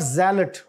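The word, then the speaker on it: zealot: sir Wednesday और आखरी जो ल है य क्या है जी जलेट दिस इ नॉट जल बट जलेट और जलेट का मतलब क्या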